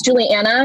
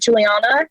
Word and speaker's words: Julianna: mispronouncing my name because it's juliana not juliana and i call you